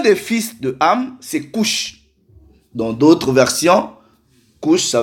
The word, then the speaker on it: Cush: Donc, en hébreu, ça se prononce comme ça. Strong's H 3568. Cush.